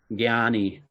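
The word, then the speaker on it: jñānī: which means knowledge it's it's actually spelled JN but it's pronounced with a G yeah yeah gyani you know there's different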